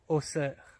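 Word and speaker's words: Auxerre: large revoilà des vignes la prononciation correcte était évidemment osser qui se prononce comme la Ville de Bruxelles en fait et non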